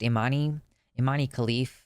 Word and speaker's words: Imane Khelif: I think her name is pronounced Imane Khelif.